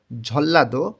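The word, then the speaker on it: 전라도: তাইলে দক্ষিণ পশ্চিম দিকের ঝল্লাদো মানে নিউন বাচ্চিমের পরে যখন রিউল থাকে তখন এই ন টাকেও ল এর মতন উচ্চারণ করতে হয় এটা ভাতমের নিয়ম তাহলে এখানে হবে ঝল্লা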